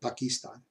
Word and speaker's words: Pakistan: happen to be from Pakistan he liked me because I said it Bucky stun which is he according to him is a better pronunciation anyway Pakistan and anyway